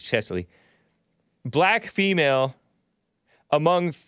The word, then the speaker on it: Cheslie: Yeah, I did talk about her yesterday too because I mispronounced it Chelsea, but it's CHESLIE.